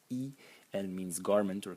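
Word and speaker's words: 衣: I mean, the semantic element, and I'm sorry, it's pronounced E. The semantic element is pronounced E, and it means garment or clothes.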